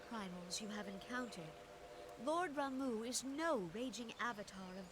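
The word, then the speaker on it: Ramuh: Clarion in its intensity ramu is returned unto the forest oh that's how you pronounce it is it ramu I always said it was Rama welp scares had his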